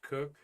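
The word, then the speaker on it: Koch: Christina cook her name is k but it's pronounced cook her maid name is hammock uh born in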